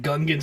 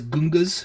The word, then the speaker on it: Gungans: he also says like Gungans as Gungas.